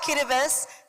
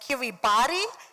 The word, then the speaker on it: Kiribati: 3 fun facts about Kiribati. The T-I, we pronounce it as is, and therefore it's not Kiribati, it's Kiribati.